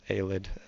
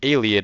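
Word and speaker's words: Ayleid: I always pron mispronounce Alid. Oh, sorry. I always pronounce Aliad as Alid. Uh because when I was young, I always pronounced it al-ID.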